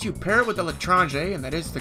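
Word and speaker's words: L'Etranger: Unless you pair it with the L'Etrange, and that is the correct pronunciation, your cloak drains 50% faster than the stock Invis Watch by default.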